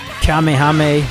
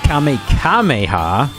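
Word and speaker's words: Kamehameha: Kamehame or Kamekameha, right? Just because he mispronounces it in the anime.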